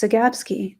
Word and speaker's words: Cegavske: on the sea monster my last name is pronounced zagabsky thanks for asking um